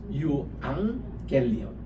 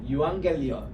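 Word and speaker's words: εὐαγγέλιον: 죽음으로 유앙겔리온 할 때게 감마가 감마를 치면은요 앞에가 앙이란 발음이 나와요 유앙겔리온 또합시다 유앙겔리온 유앙겔리온 복음이란 말입니다이 유앙겔리온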